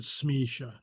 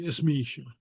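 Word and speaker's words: is mise: Okay, so the is is, but you mostly pronounce it just running it together with whatever follows. Smisha. You pronounce it Smisha. Though wouldn't be wrong to say Ismisha.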